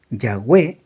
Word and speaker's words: Yahweh: eso que se Incluso se ha olvidado Cómo se pronuncia el nombre de Dios como debe ser lo más cercano para nombrar el nombre de Dios es Yahweh es el nombre de Dios Esa es la forma más cercana a lo como se